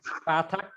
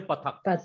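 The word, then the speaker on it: פַּתַח: No, don't say pathak or pathak. It is actually Sephardic pronunciation. Iberian pronunciation is a. It gives clear distinction. Pathak. Pathak. Don't say too much long. Pathak. Like a sound in bat.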